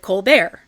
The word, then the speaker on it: Colbert: But you may have noticed how very deliberately I have pron been pronouncing Colbert. That's because the youngest of the doctor's 11 children does not pronounce his last name that way. He pronounces it Colbear, as in Steven Colbear, comedian and talk show host.